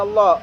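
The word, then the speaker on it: الله: Apabila lafaz Allah didahului oleh fathah, maka dinamakan bacaan maka bacanya Allah bukan la ya.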